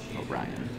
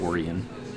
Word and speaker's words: Yorion: It is Yorion. You take that Y off. What's the word? Orion.